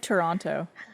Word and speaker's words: Toronto: It's like Toronto. If you're from Toronto, you go Toronto. Toronto. The second T is not pronounced. it doesn't exist. It's silent.